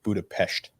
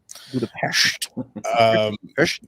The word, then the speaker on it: Budapest: First and foremost, it's pronounced Budapest. Budapest.